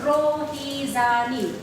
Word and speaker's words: Rohizani: As you can, if you notice my name, it is Rohizani. So it is R-O always Ro. H-I always He, not I. And Z-A is Za. N-I is Ni. So you can pronounce as it is spelled.